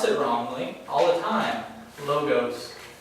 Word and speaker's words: logos: Logos. It's not logos. It's logos.